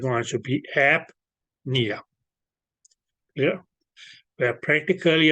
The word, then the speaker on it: apnea: Okay, so that's how it's okay the pronunciation goes. Okay, so it's going to be apnea.